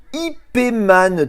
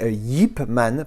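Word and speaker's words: Ip Man: que je crois que le titre original c'est hipman parce que je crois qu'en chinois il prononce hip y IP donc hipman donc du coup j'ai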